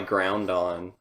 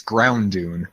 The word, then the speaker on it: Ground Dune: kill you with my ground on actually, it's Ground Dune. ground dune." That's how it's spelled. It's in all caps all the time, so you have to yell it.